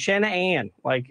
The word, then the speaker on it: Shanann: Well, here's what I'll say, because ever since I knew her, it was always Shanann, and I'd break it up into two syllables and two separate things, mm-hmm.